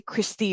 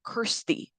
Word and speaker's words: Kirsty: uh Chris is it I always say Christy but it's not Christy it's Kirsty thank you and correct